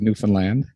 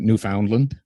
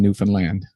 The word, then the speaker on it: Newfoundland: That's how we pronounce it, is Newfoundland. Everyone who from outside this place pronounces it Newfoundland or Newfoundland. So the simple little mnemonic we give them is understand Newfoundland.